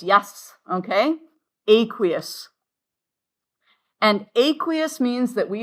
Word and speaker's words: aqueous: And it is pronounced, do you guys remember how? Aqueous, yes, okay? Aqueous.